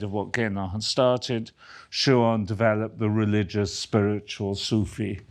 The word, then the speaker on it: Schuon: Third of three, is Frithjof Schuon, if that's correctly pronounced.